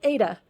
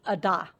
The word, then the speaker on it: Ada: This other day trip is to a town called Ada. Don't call it Ada. I made that mistake and they were like, what are you talking about? And someone figured out it was Ada.